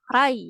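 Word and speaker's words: 来: Hai, selain itu ada dibacanya rai ya, kanji ini rai.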